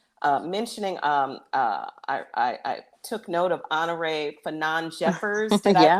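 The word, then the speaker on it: Honorée Fanonne Jeffers: Mentioning, I took note of Honore Fanon Jeffers. Did I Yeah.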